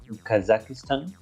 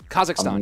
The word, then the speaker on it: Kazakhstan: in I'm not sure how you say it kazakistan Kazakhstan yeah there you go yeah he's leaving there